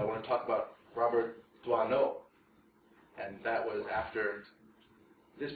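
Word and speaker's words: Doisneau: ways by American lecturers I'm pretty sure it's D no yes okay good I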